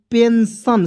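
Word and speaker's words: pension: ठीक है उसके बाद पी ई एन एस आई ओ एन पेंशन सन के रूप में पढ़ेंगे टन के रूप में नहीं पढ़ेंगे दोस्तों ठीक है उसके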